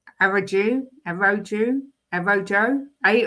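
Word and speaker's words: Araújo: pronounced Ronald Aruko.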